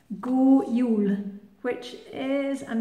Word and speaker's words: God jul: And that's spelled G-O-D, God, and it's got nothing to do with God. Go means good. And Yule is a bit like Yuletide, J-U-L, that means Christmas. So Go Yule.